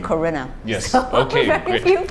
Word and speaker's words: Corinna: Oh, how have people mispronounced it? It's usually Corinna, but you said Corinna.